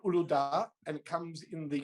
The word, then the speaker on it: Uludağ: No, it's called Uludağ, and it comes in the traditional flavour, which is clear, but it's a fruity citrus mix or orange.